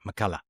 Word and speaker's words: McCullough: McCullough is the right way to pronounce it? Yep, that's right. McCullough.